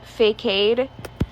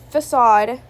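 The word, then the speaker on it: Fākade: This character, The Mask, their mortal name is Facade. Not Facade. Facade. Not spelled like facade. It is F-A. The A has a little, line on top. K-A-D-E. Yeah, I know.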